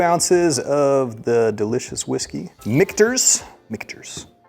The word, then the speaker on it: Michter's: Michter's. Pretty sure I've been pronouncing this like miters for the past like 8 years.